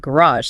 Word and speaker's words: garage: What's the initial sound you'd likely hear at the beginning of the word garage spoken in British English? RPA or B. Remember the stress? British stress often on the first syllable.